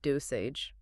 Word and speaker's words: dosage: Listen to the soft G at the end, which sounds like a J, dosage.